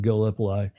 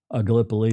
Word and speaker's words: Gallipoli: And of course, we're talking about Anzac Day in Gallipoli. Gallipoli or Gallipoli, depending upon how you want to pronounce that.